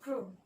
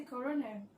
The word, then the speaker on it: krone: So the currency is the krone, not the corona.